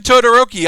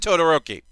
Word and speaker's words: Todoroki: I'm thinking about moving Todoroki I'll be honest y'all I'm thinking of moving my boy up took yummy I said Totoro key we both know it's not Totoro key I said his name